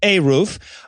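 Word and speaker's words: eruv: know this one and it's pronounced a roof um that's a god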